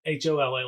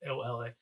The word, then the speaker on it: Ola: I'm just going through Ola, not Hola like Spanish hello. It's Ola.